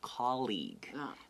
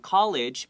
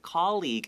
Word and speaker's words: colleague: lot of my friends have trouble saying it's colleague okay not college was a diaspora colleague is spelled c-o-l-l-e-a-g-u-e and this also means tongshu okay